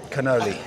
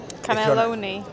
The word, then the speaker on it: cannoli: Shall I try my first cannoli in front of camera? Cannelloni. Yeah, that's the wrong pronunciation.